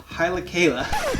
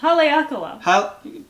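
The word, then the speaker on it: Haleakalā: west facing slopes of hilakala i said it wrong i like it say it again kayla what is it haleakala and most of oahu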